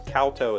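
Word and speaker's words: kowtow: every need calto k-o-w-t-o-w i'm assuming that's kalto and not koto it just shows the pronunciation of capital kow so kalto is how i'm going to say it let me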